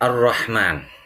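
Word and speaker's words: الرحمن: matinya Tengah dengan jelas Sedangkan untuk kata ar-rahman ini alif lam syamsiah sebagaimana yang sudah dijelaskan Minggu lalu ya di sini lam hatinya tidak terdengar dengan jelas ini dinamakan alif lam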